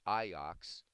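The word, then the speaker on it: Ajax: football team because um Amsterdam it's iox you say in Dutch of course we would just you know wheat right but it's iox is how you say it Dutch I can't remember so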